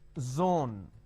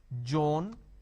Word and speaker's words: zone: pronounce this as jebra Joan Gil so please don't make a mistake the moment you replace the Z with a J it's a mispronunciation it's not jbra it's zebra it's not Jon it is Zone it's